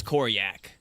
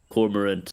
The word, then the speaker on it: Corak: corak corak no uh it's it's corak it took me a long time to say it right too we're going to get revenge for cor cor corar no corak took me